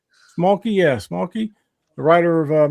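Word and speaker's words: Schmalke: Smolky, yeah, Smolky, the writer of Murder Hobo.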